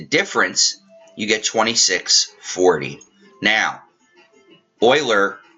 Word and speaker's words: Euler: it's pronounced Oiler but every time I see it my first glance is to say uler anyway we are going